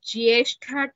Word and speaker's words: ज्येष्ठा: Jyeshtha tha, please underline that tha, and while chanting also make note that the tha should be pronounced as it is Mahaprana.